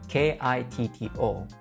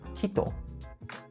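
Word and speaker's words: きっと: When two same consonants are combined in Japanese, there will be a quick pause in between the previous syllable and the later syllable. So for this word, instead of saying kito or kito, we say kitto, kitto. Notice there is a small pause in between ki and to, and it will sound like kitto.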